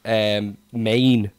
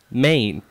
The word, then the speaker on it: Maine: It's the only state with one syllable in the whole of the United States.